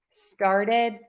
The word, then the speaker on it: started: the question here and we would pronounce that word like star and then add a did at the end star did star good started started started make sure